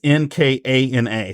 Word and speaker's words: Nkana: So Ethan Nkana, and his last name starts with the letter N and is Nkana. So I had to make sure that I was pronouncing it correctly. And it's actually rather easy. It flows off the tongue.